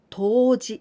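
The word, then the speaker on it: 冬至: And be careful, here we pronounce with ji, toji. But geishi, here, the same kanji, but here we pronounce with shi. Geishi, toji.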